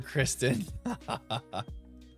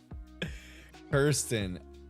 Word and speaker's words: Kirsten: Oh, it's Kirsten. And he always calls her Kristen. Kirsten. I see it now. K-I-R, not K-R-I.